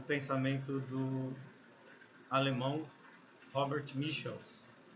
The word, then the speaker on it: Michels: pensamento do Alemão Robert Michels a pronúncia correta não é Michels origem alemã né Michels enfim eh mas é mais ou menos o que todo os pronunciam né portugues Então esse vídeo